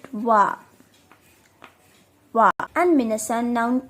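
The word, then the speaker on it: は: Followed by wa. So minasan, we call it ha in hiragana, right? But since it's in particle, so we will pronounce it wa.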